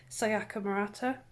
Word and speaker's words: Sayaka Murata: So I read this one, Convenience Store Woman by Sayaka Murata.